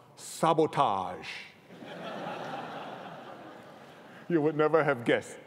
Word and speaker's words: SBTG: One of them is Mark Ong, an artist who designs customized sneakers for celebrities and shoe companies under his own brand name, SBTG, pronounced sabotage.